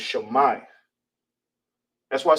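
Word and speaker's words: שמע: And how you will say it, how you pronounce it, is Shammai. All right. Shammai. All right. So hear and listen. In ancient Hebrew is pronounced Shammai.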